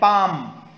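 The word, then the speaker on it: palm: एंड पाम, here is L silent.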